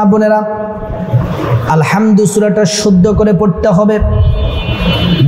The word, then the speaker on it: আলহামদু: আলহামদু হাটাকে চিকন করে পড়তে হবে।